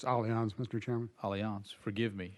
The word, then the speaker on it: Allianz: I will ask, and forgive me, I think I pronounced the name of your company incorrectly, Allianz? It's Allianz, Mr.